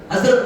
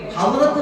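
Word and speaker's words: حضرة: ഹസ്രത്ത് Maulana Sheikh നമ്മൾ പറയില്ലേ, ഹദ്റത്ത് എന്നാണ്. അവരുടെ സാന്നിധ്യത്തെ ബഹുമാനിച്ചുള്ള ഹദ്റത്ത്, ഹദ്റത്ത് എന്ന് ശരി. പ്രയോഗത്തിൽ ഹസ്രത്ത് എന്നൊന്നുമില്ല, ഹസ്രത്ത് അല്ല. ഈ ഹസ്രത്ത് എന്നറിയാമോ?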